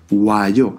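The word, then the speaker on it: 와요: La pronunciación de esta palabra es wayo y a veces puede confundirse con bayo, que significa veo, del verbo boda.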